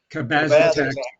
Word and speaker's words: cabazitaxel: Cabazitaxel.